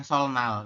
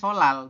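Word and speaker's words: 설날: dibacanya salal kenapa dibacanyaal bukan sol Nal ini kanal Ya tulisannya ya tetapi dibacanya solal betul ya Kenapa kira-kira karena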